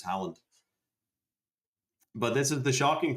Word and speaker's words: Haaland: How about this Haaland guy?